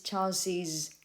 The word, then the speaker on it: Charles's: apostrophe s and then in pronunciation you add an extra ease she's she's charles's wife however you can also